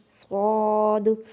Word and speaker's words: ص: اسی طرح ثا، سین، صاد۔ اب کیا ہے، تا کو نرم، سین کو سیٹی کی آواز والا، اور صاد کو موٹا۔ اب یہ تینوں کے